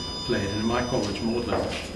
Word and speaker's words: Magdalen: And in my college, Magdalene, as it's pronounced, we know that people will be playing after dinner precisely this music, you know, in the 17th century.